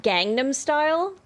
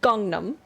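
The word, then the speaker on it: Gangnam: hear people say like gangnum style for that that that song that was everywhere he clearly says Gangnum right Gangnum like I know it's spelled Gangnum but he says gongnam and it was so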